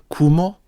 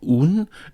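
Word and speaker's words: 雲: This one has the pronunciation kumo or un and the meaning cloud.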